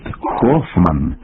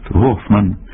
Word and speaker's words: Гофман: або холова хрип хлина Отже Ганс Гельмут Гофман йоганесбург тут можлива лише літера г ви